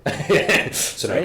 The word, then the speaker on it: Sunoco: Sunoco Right? is how you pronounce that.